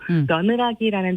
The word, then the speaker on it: 며느라기: 근데 이 작품에 대해 처음 들어보시는 분들은 아마도 며느라기라는 제목을 며느리를 귀엽게 부르는 말인 며느아기로 생각하실 텐데요. 그게 아니에요? 발음이 네, 똑같은데. 며느아기가 아니라 며느라기입니다. 며느라기.